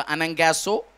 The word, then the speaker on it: anagkazo: अनंगैसो, spelling लिखो ANAGKAZO।